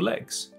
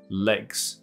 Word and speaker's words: leg: my internet connection is a little laggy，可以 lag。那它的发音就是那个蝴蝶音 lag。那腿是短的一个 ad 音而已，所以这就是 leg leg lag leg。Everybody has two legs legs， OK。所以 last leg 不是 last lag，那希望同学这个把它弄清楚。所以同学可能真的以为 lag